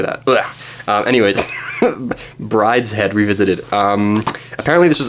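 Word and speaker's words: Brideshead: W Brides head Revisited which also looks like it could be pronounced bride shed um but who do that that's stupid why would I say that um anyways Brides head Revisited um apparently this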